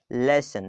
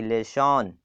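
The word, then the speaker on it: lesson: लेसन क्या पढ़ेंगे, लेसन, ना कि लेशन, ऐसे लोग पढ़ते हैं।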